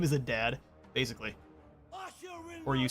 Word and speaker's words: Adad: hey toosa welcome on in his name is a dad his name is a dad basically or you saying that's the correct pronunciation for itz he is properly the dad